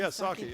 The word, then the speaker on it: Psaki: with the former White House Press Secretary Jen Psaki, New Hampshire, did I pronounce that right? Jen Psaki, yes.